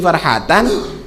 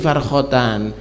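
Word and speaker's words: فرحتان: Keliru, salat ada titiknya, ada di situ, tapi titik liar, bukan karena lis-shaimi farhatan, dia bacanya lis-shaimi farkhatan. Nah, ini jadinya kacau jadinya, ya nggak? Nah, karena itu nggak bisa belajar, nah, sehingga namanya tulisan cetakan itu bisa salah kok.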